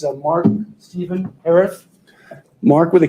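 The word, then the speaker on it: Herath: Yeah, it's Mark Stephen Harith. Mark with a K. Stephen, P-H-E-N is the way it's spelled.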